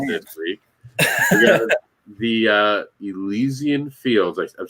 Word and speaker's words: Elysian Fields: We got the Elysian Fields. I've said it right? Yes, Elysian Fields.